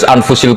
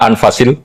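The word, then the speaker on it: أنفس: saja di sini ditulis anfusil kutub saya baca anfasil kutub karena maknanya kitab ter baik Kalau kitab terbaik bacanya bukan anfus tapi apa anfas ya nanti kamu debat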